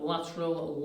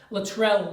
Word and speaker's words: Latrell: And that's not the best pronunciation of Lateral, is it? Lateral Lewis. Sounds like a maths character. Just pop up in a revision video or something. Latrell Lewis, apologies there.